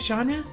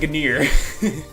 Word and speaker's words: genre: much but regardless of genre by way I use a little funny fact before I found out that is how you spell it genre I call it good ear it's how it's spelled okay the books should